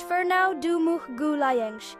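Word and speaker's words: Fernão de Magalhães: Ferno de Magalis, pronounced Ferno Dum Gulen, was a Portuguese explorer who sailed for Spain and is also known as Ferdinand Mellin.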